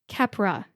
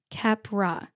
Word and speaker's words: Keppra: It's pronounced Keppra. Keppra. The first syllable, Kepp, gets the emphasis.